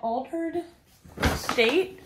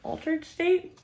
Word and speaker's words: Altar'd State: Oh, I splurged at Altered State. I'm pretty sure that's how you say it, Altered State.